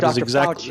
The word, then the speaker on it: Fauci: Fauci. Is that how you say his name? Yes. Dr. Fauci.